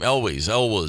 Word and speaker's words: Elwes: Elwes, the Ewells.